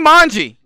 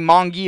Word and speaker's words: Manji: Tony Manji. Actually, I got corrected on how to pronounce his name, so it's no longer going to be Mongi or Mongo. It's going to be Manji now.